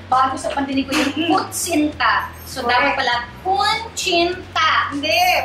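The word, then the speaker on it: kutsinta: Kunchinta ang pagka-pronounce namin sa kunchinta.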